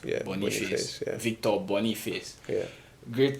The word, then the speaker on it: Boniface: Is that how it's pronounced? Yeah, Boniface.